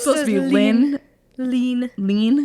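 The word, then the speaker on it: Hlín: Goddess that she originally it was H not H it's lean what yeah so it's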